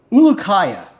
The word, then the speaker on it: Ulukaya: don't know how to say his name uh ulukaya that's how you say his name hondi ulukaya